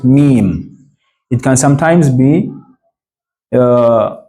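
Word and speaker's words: ميم: written like this me m comes from your lips just meme it can sometimes be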